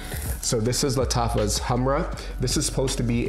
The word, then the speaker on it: Khamrah: for myself this is latava's Hamra okay or camera but I believe it's pronounced Hamra a lot of these